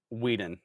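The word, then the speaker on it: Whedon: Josh Sweden was the creator. Sweden. Weeden. W E D O N.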